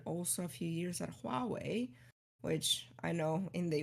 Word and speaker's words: Huawei: because I call it Hawaii. And Honestly, that's so um, many, like so many Hawaii, like I've heard Hawaii, like, yeah, it's, well, I think the right way to pronounce it is like Huawei.